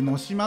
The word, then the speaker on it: 能島: 国があるのみこれは能島とかではなく野島って読むんですねな